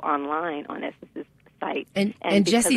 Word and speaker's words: Gessie: on essence's site and Jesse is spelled with a G yes it's www G